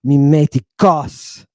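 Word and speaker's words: μῖμος: mimos you hear that time I hit the accent mimos not mimos not mimos and not MOS it's mimos and the Greek wants to Accent itself on one of the last three syllables the last three syllables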